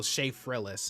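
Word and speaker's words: Shaffrillas: Okay, so Sha Frillis is how it's pronounced.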